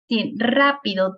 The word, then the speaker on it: rápido: Rápido tiene 3 sílabas, rápido. Do es la última, pi, penúltima, ra, antepenúltima, y que dice, hay algunas